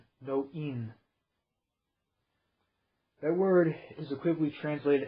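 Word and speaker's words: noein: The actual word translated as thinking is knowing, spelled N-O-E-I-N, no-in. That word is equivocally translated as consciousness or awareness. Interjecting here, that's where we get the no spelled with a K-N-O-W, is from no-in, no-ain.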